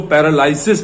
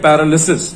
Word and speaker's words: paralysis: ये जो LYSIS है यही गड़बड़ करता है और इसी वजह से हम इसको पैरालाइसिस बोल जाते हैं, जो कि गलत है। हम इसको बोलेंगे पैरालिसिस, जो करेक्ट वर्ड है, करेक्ट प्रोनाउंसिएशन है।